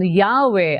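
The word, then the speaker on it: Yahweh: While inclining to view the pronunciation Yahwe as the more correct way, we have retained the form Jehovah because of people's familiarity with it since the 14th century.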